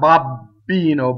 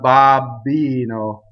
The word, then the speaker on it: babbino: Not babbino, but babbino, right? Avvi, not avvi, right?